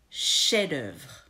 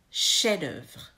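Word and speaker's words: chef-d'œuvre: rule here number four the F at the end of the first word is a silent F remember the rule about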